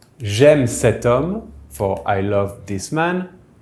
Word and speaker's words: cet homme: THIS MAN will be CET HOMME, because it’s masculine but the H is silent so it behaves like a noun starting with a vowel.